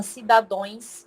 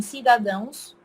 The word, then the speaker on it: cidadãos: pessoas não entendem que não se fala cidadões e sim cidadãos que vem da palavra